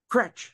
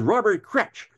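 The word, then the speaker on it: Kroetsch: And I said, "How do you pronounce his name?" "Kretsch," said David Arneson. He says, "Robert Kretsch."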